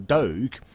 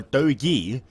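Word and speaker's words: Doge: it was douchecoin um i was always told it was um dog or dogi and the idea of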